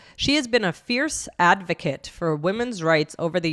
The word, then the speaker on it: advocate: So the noun is the short it, advocate, and the verb is the A, the longer sound, advocate.